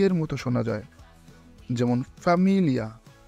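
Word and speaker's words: famiglia: এই তিনটি অক্ষর একসাথে মিলে লি এর মতো শোনা যায়, যেমন ফ্যামিলিয়া, ফ্যামিলিয়া।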